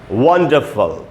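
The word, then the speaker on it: wonderful: का उच्चारण है इसका, वंडरफुल, और इसके यहाँ श्व का ये डॉट मैंने लगा दिया अभी, तो ये इसमें पहले सिलेबल पे स्ट्रेस है, यानी इसको हम पढ़ेंगे वंडर, वहीं पर जो अ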